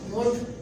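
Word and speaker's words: would: भी वर्ड है शुड, वुड। तो जब भी ओ, यू और डी के दरमियान में एल आएगा तो आपका एल कंसीडर किया जाएगा साइलेंट, जैसे कुड, वुड, शुड। Cooled, वुड, शूड नहीं होगा।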